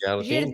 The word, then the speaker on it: jardim: Do you remember that I said that the M is there not to be pronounced as an M, right? No, just to give you the So finishing sound. it's Jardim. just the sound. So the sound is the I.